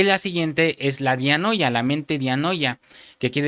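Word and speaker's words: διάνοια: Pero también se se traduce la palabra mente con una palabra griega que se pronuncia dianoya.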